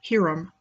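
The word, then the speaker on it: Jirem: It was the administrative center of the defunct Jirom League, spelled J-I-R-E-M, might be pronounced Hiram.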